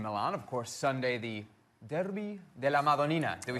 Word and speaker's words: Derby della Madonnina: Of course, Sunday, the Derby della Madonnina.